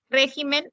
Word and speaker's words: régimen: aumenta una sílaba bien régimen régimen es esdrújula es esdrújula y se tiene que tildar regímenes regímenes también se